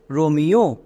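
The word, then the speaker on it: Romeo: এবার একসঙ্গে উচ্চারণ করো আর ও এম ই ও রোমিও সো আমরা যদি শব্দের মধ্যে ই ও দেখতে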